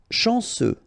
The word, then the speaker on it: chanceux: Chanceux, final X not pronounced, this C-E-U, ce, chanceux, chanceux.